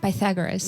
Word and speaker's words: Pythagoras: Pythagoras? The one who made the theorem. I think you're pronouncing it right. Pythagoras.